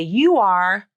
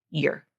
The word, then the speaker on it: you're: were or your but if you listen to the pronunciation I guarantee you 95% of the time it's going to be unstressed and reduced to year year year a very fast ER vowel all right so now